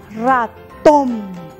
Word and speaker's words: ratón: Por ejemplo, la palabra ratón. ¿Dónde se carga la voz? En tom.